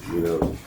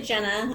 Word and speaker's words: Jenna: our Assistant City Attorney, Gina, on the Brown Act and Rosenberg's rules. Yes, hi everyone. It's actually Jenna. I know it's spelled wrong, but don't worry, everyone gets it wrong, so no problem.